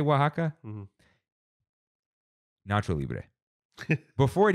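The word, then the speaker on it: Oaxaca: topped with avocado tomatillo sauce green onions and Waka cheese it's how you say it fresh baked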